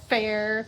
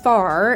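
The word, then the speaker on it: Phare: This is called fair. P H A R E. And it's supposed to be pretty amazing. So, off we go. We arrived at FAR, as I learned it is pronounced, early so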